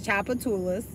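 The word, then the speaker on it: Tchoupitoulas: gonna just be nice i'm gonna tell you it's choppa tulas yeah did your wife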